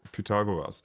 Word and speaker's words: Pythagoras: I'm not sure whether I pronounce it correctly in English. Pythagoras. In German, it's Pythagoras."